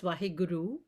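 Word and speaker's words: Waheguru: you know in the first of all is pronounced vaheguru and it's an exclamation of wondrous gratitude to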